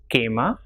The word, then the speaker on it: quema: QUE is K, so examples with these pronunciations are quema, quebrar or quedar.